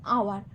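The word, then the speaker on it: hour: বসছে ঠিক তেমনি অ্যান আওয়ার এখানেও এইচ টা অ এর মত উচ্চারণ হচ্ছে বলে এন বসানো হয়েছে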